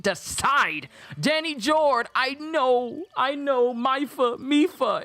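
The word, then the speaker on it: Mipha: So the king of Zora domain called her Maifa. Sidon called her Maifa, but in Age of Calamity, her name is Mifa.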